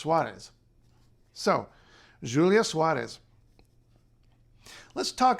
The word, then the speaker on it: Soares: This is a fairly well-known feature of Portuguese, but not in most of Brazil, where it just becomes z, like we would in English, Soares.